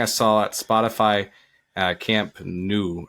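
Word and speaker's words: Camp Nou: saw at Spotify uh Camp new at or nuo I can't say it properly but um this weekend she was in Barcelona at Camp new Camp new okay I said it right the first time okay great good um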